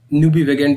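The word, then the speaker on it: nubivagant: बड़ा ही सुंदर ये शब्द है, न्यूबिवेगेंट इसका सही प्रोनाउंसिएशन है।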